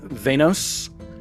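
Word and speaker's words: Veynos: Uh, but the name that's attached to it is one Venos Ember String. Can you spell that? V E Y N O S Ember String. Just as it sounds.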